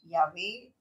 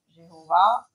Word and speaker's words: YHWH: YHWH, que certains prononcent Yahvé, Jéhovah, Yahweh. Comme l'hébreu, l'ancien n'avait pas de voyelles écrites, seulement transmises oralement, les prononciations ont varié.